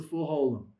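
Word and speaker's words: חולם מלא: Remember that if you have a v with a dot over it, the vav becomes silent. It becomes a placeholder. And that is the o sound as in toe. That's the full holm.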